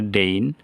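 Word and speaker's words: deign: এইখানেও জি এনের পূর্বে আই আছে ডেইন, প্রসন্ন হওয়া।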